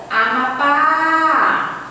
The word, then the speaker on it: Amapá: Amapá. Eu demoro mais no pá. Então, o pá aqui é a sílaba tônica.